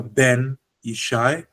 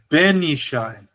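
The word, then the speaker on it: בֶּן־יִשַׁי: So now the pronunciation changes. It's no longer Ben Isai. It's Benishi. Benishai. The tone goes up.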